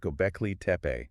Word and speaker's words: Göbekli Tepe: Pronounced Göbekli Tepe. Right, exactly. Göbekli Tepe.